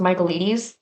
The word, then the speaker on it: Michaelides: Fury by Alex, I think his name is pronounced Michaelides.